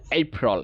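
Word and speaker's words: April: এপ্রিল, এই আমরা বলতে পারি চাইলে এপ্রিল অথবা আটাকে তুলে রল রল দ্রুত বলতে হবে এপ্রিল এপ্রিল রল এইরকম না, রল না, ইটস নট রল, এটা রল রল দ্রুত রল, র এবং ল দ্রুত বলতে হবে রল এপ্রিল, ঠিক আছে এপ্রিল।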